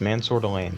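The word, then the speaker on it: Mansoor Delane: and they're going to go with LSU cornerback, Mansour Delane. Is that how you say his name? Yes, Mansour Delane.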